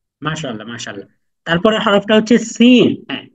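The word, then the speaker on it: سين: মাশাল্লাহ তারপরের হরফটা হচ্ছে সিন হ্যাঁ বলুন একটা শীষের মত আওয়াজ সিন সিন সিন সিন এমন একটা শীষের মত আওয়াজ হবে সিন সিন শিন শিন শিন না সিন শিন তারপরের আলাফটা হচ্ছে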